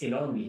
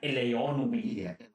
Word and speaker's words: Ilonmi: FYI, it's Ilonmi, not Eleonmi. Yeah. I see some people like saying it wrong.